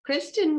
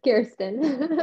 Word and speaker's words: Kirsten: say your name wrong it's all right it's kirsten okay you you say